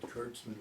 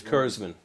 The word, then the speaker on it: Kurzman: Because you know my name is, they often pronounce it Kurtzman, which is. Kurzman.